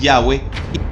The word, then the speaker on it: Yahvé: vamos a dar de porque nosotros pensamos que es ya ve no esas otras formas que se pueden pronunciar ojo que tiene su